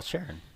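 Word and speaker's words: Charron: okay so you don't even know how it's pronounced well Sharon that's Sharon yeah yeah anyways you said you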